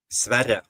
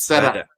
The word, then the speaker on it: Sverre: How do you say his first name? Sverre. It's Sverre. Sverre.